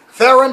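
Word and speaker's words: Theoren: i can't say that theron flurry rhymes with darren they had theron flurry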